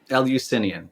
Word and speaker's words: Eleusinian: And that's why I almost feel like the better question is, why wouldn't, like, it's Eleusinian, am I pronouncing it right? Eleusinian, perfect.